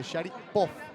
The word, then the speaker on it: Sharipov: in the lobby today how do you say your name he say Shad puff so I'm trying my best shy puff speaks four different languages